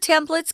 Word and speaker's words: templates: Google Sheets also offers spreadsheet templates. This word templates can also be pronounced templates. I tend to say templates. They're both correct.